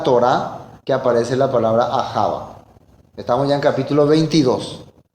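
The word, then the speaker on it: אהבה: Ahava. Ahava. ¿Qué significaba Ahava? Protección. Significaba también servir, ayudar, sacrificar. Todo esto significaba amor. Y es la primera vez en la Torá que aparece la palabra Ahava.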